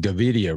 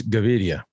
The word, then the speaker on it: Gaviria: george is actually colombian and he's still not pronouncing davidia right we've been davidia yeah you can video